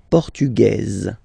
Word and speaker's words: portugaise: Feminine form, portugaise, you pronounce this z sound, okay?